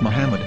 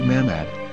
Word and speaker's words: Muhammad: According to Ben Yehuda's Hebrew English Dictionary, it is correctly pronounced as Muhammad, not Mamad. So how we're going to